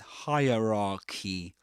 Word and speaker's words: hierarchy: You don't say that. But hierarchy hierarchy. And the last part, the last syllable is pronounced just like the word key. Key. Maybe the the the e is not that long as in as in key, but it's quite similar, you know, maybe a bit a bit shorter the the the pronunciation of that e sound at the end of the word hierarchy. Hierarchy.